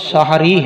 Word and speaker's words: سحری: اس کا صحیح تلفظ سحری ہے، سحری، سین پر بھی زبر ہے اور ہا پر بھی زبر ہے۔ یہ سحر سے ہے، سحر رات کے آخری حصے کو کہتے ہیں، تو سحری اسی سے ہے، اس کا معنی ہے رات کے آخری حصے کا کھانا۔ تو اس کو جو سحری کہتے ہیں یہ اس کا درست تلفظ نہیں ہے۔ باقی یہ بات یاد